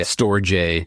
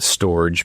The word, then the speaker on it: Storj: They go by Storj. It's STORJ. Some people pronounce it storage, but we say storage so many times that it gets confusing. So Storj.